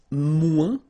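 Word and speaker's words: moins: want to say less it's mu in French so no discussion about the S here don't pronounce it okay and then you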